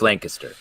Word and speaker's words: Lancaster: It's pronounced Lancaster.